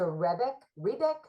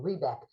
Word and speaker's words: Rebeck: By Teresa Rebeck, I pronounced that wrong, Rebeck.